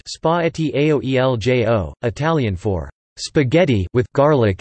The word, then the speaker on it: Spaghetti aglio e olio: Spaghetti aglio e olio, pronounced spaghetti aoeljo, Italian for spaghetti with garlic and oil, is a traditional Italian pasta dish from Naples.